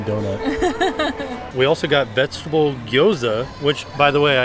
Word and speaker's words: gyoza: We also got vegetable gyoza, which, by the way, I found out from them how to pronounce it. Gyoza. Oh, okay. It's nice. Like you kind of just like say it all together.